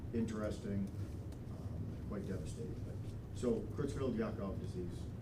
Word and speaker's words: Creutzfeldt-Jakob: But, so Creutzfeldt-Jakob disease, pronounced with a Y instead of a J.